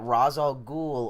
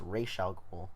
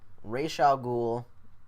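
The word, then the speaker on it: Ra's al Ghul: Flash and arrow cherl world I know that Rosal ghoul or actually it's pronounced Ral ghoul rayal ghoul um is going to be in or has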